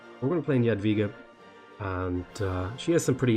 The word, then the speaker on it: Jadwiga: I think W is pronounced a V in Polish. We're going to play Jadwiga.